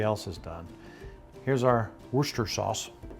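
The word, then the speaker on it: Worcestershire: has done here's our Worster sauce if you were to pronounce wor sauce phonetically it would have a lot of syllables you know a lot of people in the UK call it Worster sauce and some people put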